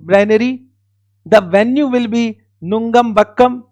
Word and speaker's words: Nungambakkam: The venue will be Nungambakkam. I think the pronunciation is correct. Of course, Nungambakkam. So it will be Tarun Sir Academy, Nungambakkam.